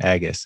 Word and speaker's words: Agus: agus i'm finally reading i've been sticking an n in there and there's no n in that name agus all right great to